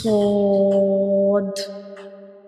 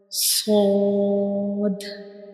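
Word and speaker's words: ص: We will read these 2 letters with a heavy sound. These 2 letters are bold letters, and sod is also a whistle letter.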